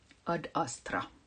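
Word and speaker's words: Ad Astra: what is that uh ad asra ad asra it's Latin I should not pronounce it like um English because I I'm finished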